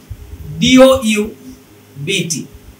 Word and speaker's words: doubt: কনসোনেন্টের পরে যদি BT আসে তাহলে B রিমেইন সাইলেন্ট। তবে ওই BT এর উচ্চারণটা কিন্তু ছি এর মতো হবে, ছ এর মতো হবে, এটা মনে রাখবেন। যেমন দেখেন DOUBT।